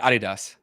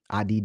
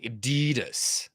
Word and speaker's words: Adidas: so like I said I said it Adidas Adidas American said American American make it extremely long they say Adidas right Adidas yeah so